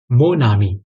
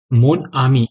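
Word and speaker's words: mon ami: pronounce करना पड़ता है मोनामी इस तरह नहीं मोन आमी इस तरह नहीं बल्कि मोनामी मोनामी ऐसा लगना चाहिए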